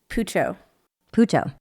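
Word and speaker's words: Puchao: as easy to pronounce it's poo poo spelled p u c h a o I think but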